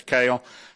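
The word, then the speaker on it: Kehl: Like the vegetable, kale. Kale, okay, that's what I thought it was. Okay, kale. I thought I heard that earlier, but I don't always hear things correctly. But, Ms. Kale, what if the transition doesn't go through?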